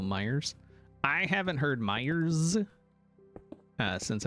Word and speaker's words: Meijer: Now say it right, even though there is no S, it's still Myers.